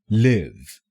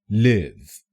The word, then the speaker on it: live: The second pronunciation is live, live, live. This word is pronounced live when it is used as a verb in a sentence.